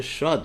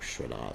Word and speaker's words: Shraddha: Therefore, he was respected as such by Advaita Acharya when Advaita Acharya performed the Shrad ceremony, or Shraddha ceremony, depending whether you pronounce it in Hindi or Sanskrit.